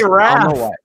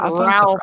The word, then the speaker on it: Raph: Just say Raph. Raph. Raph. I did. I thought Ralph. It's not Ralphie from A Christmas Story, bro.